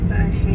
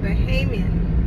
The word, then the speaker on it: Bahamian: Bahamian. Am I saying it right? No, Bahamian.